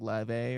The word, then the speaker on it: Laufey: There's this one artist named like Laufey, but I think it's pronounced like Leve or something like that.